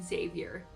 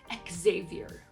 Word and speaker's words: Xavier: I love the name Xavier.